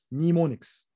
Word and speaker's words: mnemonics: So the assembly language convert basically these binary codes into what's called mnemonics. M is silent here.